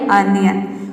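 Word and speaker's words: onion: मतलब होता है प्याज याय ओनियन नहीं होता है ये होता है अनियन उसी तरह से है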